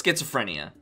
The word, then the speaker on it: schizophrenia: that myth which is schizophrenia okay or schizophrenium you may hear it pronounced in those two ways okay so the the